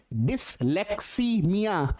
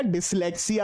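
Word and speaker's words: dyslexia: अरे बच्चे थोड़ा सा ध्यान से डिस्लेक्समिया ये गलत है। प्रोनाउंसिएशन पे जाइए यहां पर। ये आपका डिस्लेक्सिया होगा। देखो पढ़ने में कितना गड़बड़ हो रहा है। डिस्लेक्कीसीमिया नहीं केवल और केवल डिस्लेक्सिया।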